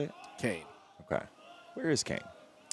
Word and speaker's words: Kean: So is it Kane? Is that how you say it? Kane.